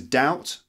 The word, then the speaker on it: doubt: left next one is doubt doubt like when you're not sure about something doubt not doubt again your lips don't meet is doubt doubt doubt doubt okay